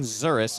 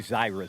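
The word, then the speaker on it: Zirwas: So Zuris, Bryson Zuris in for Sandor at first. Z-I-R-W-A-S, pronounced Zuris.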